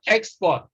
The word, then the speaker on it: export: a prefix and so when we use it as a noun it becomes x parts all right so you can see when it is when a two-syllable word is used as a noun and also as a verb you can stress the first syllable even though it is a prefix if it is used as a noun all right so we have export so those are exceptions